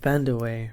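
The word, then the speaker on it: Vandeweghe: Van der Wey. Van der Wey, right.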